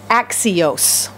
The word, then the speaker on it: axios: The Greek word is axios. Axios. Okay, that's how you pronounce it.